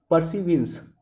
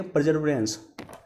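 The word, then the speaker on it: Perseverance: उतरा है वो है परसिविंस। Option A. देखो हिंदी के आंसर और अंग्रेजी में आंसर में काफ़ी अंतर दिया हुआ। इसका एग्जैक्ट प्रोनाउंसिएशन होना चाहिए परजर्वेरेंस, लेकिन हिंदी में दिया हुआ परसिविंस दिया हुआ।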